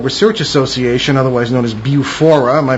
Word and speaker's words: BUFORA: the British UFO research Association otherwise known as Beaufort my pronouncing that correctly yeah and an accredited investigator